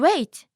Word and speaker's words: は: Ha is pronounced differently when it's used as a topic marking particle. It will be pronounced as wa.